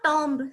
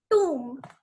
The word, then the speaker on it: tomb: It is not tomb. So B is silent in this word. So it is pronounced as tomb.